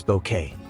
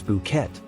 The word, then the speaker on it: bouquet: how about this one pronounced as bouquet usually mispronounced as bouet bouquet means a collection of flowers arranged together or the aroma of wine its French origin drops the tea sound entirely example she received a beautiful